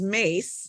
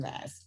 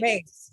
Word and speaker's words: Myss: And her last name is Mace, and it's spelled Myss. Okay, Carolyn Mass. Okay. Mace. It's Mace.